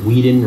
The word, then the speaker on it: Whedon: Okay, anybody with a brain knows that I say my name at the beginning of all my videos. I say Whedon.